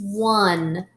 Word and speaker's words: won: The next word is won, like they won the game. Won. Spell it W-O-N, won. So we know there's the number one, and this is one as in they came in first place.